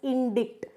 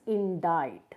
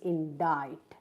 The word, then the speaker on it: indict: We do not pronounce it as indict. We say it as indict. The pronunciation is indict.